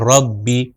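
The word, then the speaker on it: رَبِّي: है कसरा यानी जेर तो यह हो जाएगा रब्बी रब्बी तो आपने मुलाहिजा किया मगर इस चीज का खास ख्याल रखें रखिएगा कि इसको लंबा नहीं करना क्योंकि अगर लंबा करेंगे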